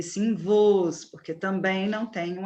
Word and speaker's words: vos: Lembrando que pronome oblíquo não se pronuncia nós, e sim nos, não tem um acento agudo. Não se pronuncia vós, e sim vos, porque também não tem um acento agudo.